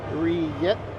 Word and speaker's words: rillette: Angie says, Frenchies pronounce it rillette.